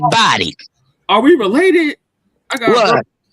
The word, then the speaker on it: Boddy: They're scattered too, but the family name is Body, Boddy. Some family members pronounce Bodie. We say Body.